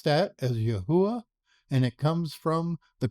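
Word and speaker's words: Yahweh: We pronounce that as Yahwh and it comes from the concordance H 3068.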